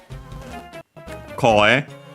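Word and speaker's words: 声: So yeah, suddenly, koe, voice. Accent on the first mora.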